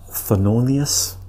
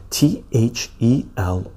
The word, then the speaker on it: Thelonious: And the reason that I picked up this book is because of Thelonious, This is the way you pronounce his name or spell his name. T-H-E-L-O-N-I-O-U-S.